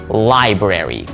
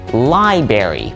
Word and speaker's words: library: most experienced English speakers Library a lot of people will tend to say library even though that seems to roll off the tongue so easily the correct pronunciation is actually library library so the next time